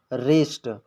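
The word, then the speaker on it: wrist: आप देख सकते हैं आर से पहले डब्लू आया है इसलिए यह भी पढ़ा जाएगा रिस्ट यह ब्रस्ट नहीं पढ़ा जाएगा रिस्ट पढ़ा जाएगा क्योंकि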